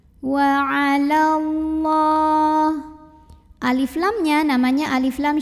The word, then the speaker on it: وعلى الله: Wa 'alallah, lam jalalah dibaca secara tafkhim karena huruf sebelumnya berbaris fathah, maka bacanya tebal, pangkal lidah diangkat. Wa 'alallah, alif lamnya namanya alif